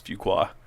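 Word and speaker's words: Fuquay: I used to pronounce that wrong for so long until somebody said it's Fuqua.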